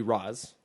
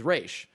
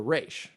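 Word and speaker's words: Ra's: whole thing but so it is arabic for the demon's head and the arabic pronunciation would be raz okay um but the creator went with the hebrew pronunciation which is reish so when this is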